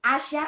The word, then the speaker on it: Asya: question all the time it's asia it's asha i know it's spelt as asia which is asya but when you say it there is an age that they that's not part of the spelling that you have to pronounce so it's asha um it is hebrew